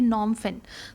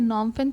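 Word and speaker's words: Phnom Penh: Cambodia का है नॉमफिन। तो यहां पी एच एंड यहां पे साइलेंट है। तो उसे हम क्या पढ़ेंगे? नॉमफिन पढ़ेंगे।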